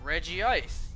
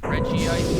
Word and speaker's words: Regice: The anime said both Regice and Regice. To that, I say, I guess there's two pronunciations. You can pick which one you like. You know, if the anime has two pronunciations, then fair enough, you can pick whatever you like.